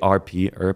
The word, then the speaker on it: Earp: with the verified one. ARP her is how you say my last name I'm also on Facebook